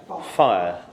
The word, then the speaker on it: fire: And I'd just eliminate it to one syllable, fire.